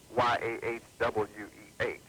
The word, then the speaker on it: Yahweh: this name, which is Y-A-H-W-E-H. It's most important for you to understand that that is the English transliteration and pronunciation of the name, Yahweh.